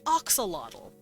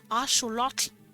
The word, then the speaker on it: axolotl: and any Aztec language whenever you see a t and an L that's not toe like an axolotl bottle you'll you'll see the TL that's not technically how it's pronounced in the original Aztec Axolotl would actually be pronounced asholaki foreign the x is actually a show like in a once again